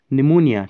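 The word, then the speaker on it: pneumonia: है ने एन यु ही के मोयना फैंस निमोनिया ठीक है निमोनिया की स्पेलिंग गलत दी है इन्होंने इसको हम ठीक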